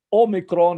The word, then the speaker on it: Omicron: pronunciar las vocales cortas, porque Omicron es O, o algo así como O en inglés, y Omega es O, es nuestro O, Omega, O, Omicron, O, pero es vocal corta.